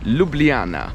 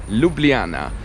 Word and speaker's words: Ljubljana: talk about the name this place is called Ljubljana say it with me Ljubljana that is how you pronounce it and the name actually comes from